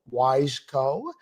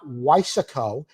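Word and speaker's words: Wiseco: So the following year, Weissman started the Wissco Wise Co. not Weissco like some people pronounce it, Piston Company.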